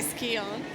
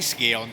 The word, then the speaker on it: Scion: I want to say Skion. I know, say ski on, darling, it's fine.